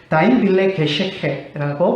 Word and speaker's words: Dein Wille geschehe: 어떻게 발음이 되냐면 독일어가 Dein Wille geschehe라고 발음이 됩니다.